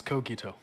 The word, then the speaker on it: Cogito: How do you pronounce your name, sir or ma'am? It is Cogito.